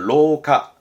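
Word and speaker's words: 廊下: 그 랑자가 복도랑이니까 시험 때 많이 나왔던 건 낭하를 쓰면 발음은 로카.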